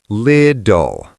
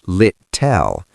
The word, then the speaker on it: little: Little. Lid-doll. The end is that dark L sound. It is not lit-tell. It is lid-doll.